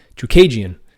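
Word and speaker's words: Chookagian: So obviously by beating the number 1 ranked fighter why do I keep saying her name wrong? Chukagian.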